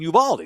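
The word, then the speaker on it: Uvalde: a little station in Uvaldi so technically we're gonna be on Uval Uvaldi is how you say it on that station and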